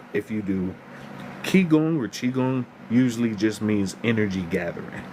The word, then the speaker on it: qigong: It's chiong or some some cultures spell it q i g o n g. It just depends.